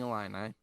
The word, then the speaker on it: Illini: me hey watch the number five illinois fighting illini all right that's how you say it versus